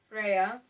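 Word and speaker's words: Freyja: Freya with a J. I guess the J is silent.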